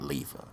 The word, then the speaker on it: Lever: on it so and his lever not lever even though it's it's spelled like it's lever but you know how